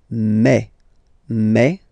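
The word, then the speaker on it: mes: Okay, so for the phonetical or pronunciation aspect of it, then remember that this es here combined will give you the sound e. Okay, so you'll pronounce it like me.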